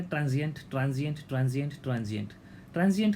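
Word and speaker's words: transient: ट्रांजिएंट ट्रांजिएंट ट्रांजिएंट ट्रांजिएंट का मतलब है भाई अस्थाई।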